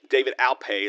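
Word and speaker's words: David Alpay: David Alplay, David Alpe is how you say his name.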